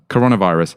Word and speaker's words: coronavirus: wrong all this time so you're saying it with a short o coronavirus I just have to